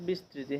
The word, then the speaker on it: বিস্তৃতি: পশ্চিমে বা দ্রাঘিমা বিস্তৃতি এটা উচ্চারণ হবে বিস্তৃতি হ্যাঁ 80 ডিগ্রি সাত